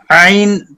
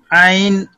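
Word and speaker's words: عين: ہاں عین کو آپ آئیے عین کو Ain, Ain pronounced as Ain, pronounce letter Ain from the middle part of the throat.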